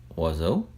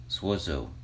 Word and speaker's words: oiseau: If you speak Cajun French or heard it spoken, you, maybe like me, always thought that words like oiseau, ebb, and ab actually began with the letter Z. Swazo, zab, zab. And I think that's because we always heard it's pronounced maybe off of the plural, les oiseaux, les ab, les ab.